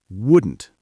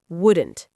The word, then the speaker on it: wouldn't: Wouldn't the negative form, that is another good one to practice pronunciation-wise. Wouldn't. Yes, it is tricky. Would not. Wouldn't. You almost swallow the vowel.